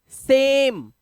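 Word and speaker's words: same: ऐसे ही सा, एम, सेम। और लास्ट वाला वाउल जो है, जो दूसरा वाउल है, वो साइलेंट है।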